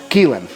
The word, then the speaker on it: Kaylin: And he finally told me that it's actually pronounced Keelan.